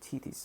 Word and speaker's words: Tethys: For these poets made ocean and Tethys, or Tethys, that's how you pronounce it, the parents of creation, and said